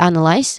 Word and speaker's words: analyze: We start with analyze which has three syllables. The stress is on the first syllable an.